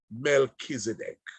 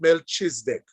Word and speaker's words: Melchizedek: the whole story of Melchizedek. I want to share that it's not Melchizedek, it is Melchizedek. That is the idea of the name. It's the pronunciation rather of the name, Melchizedek.